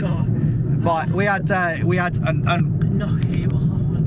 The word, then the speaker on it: gnocchi: But we had an Gnocchi. Oh, it's not gnocchi. It's oh gnocchi. God, don't do this to me, Tam. It's gnocchi. Gnocchi. Gnocchi. You got to say it right.